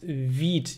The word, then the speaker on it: Vite: dev i could uh or is it actually called wheat i yeah v for quick pronounced vid yeah thanks domenico thanks